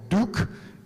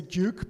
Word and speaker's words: Duke: at uh duke or Duke University depending on whether you speak with a British pronunciation as I do or American okay so I'm going to say duuk because I'm British but